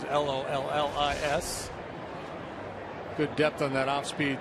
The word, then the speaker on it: Lollis: pronounced like Tom. You may remember him, former big leaguer, but this is Lollis.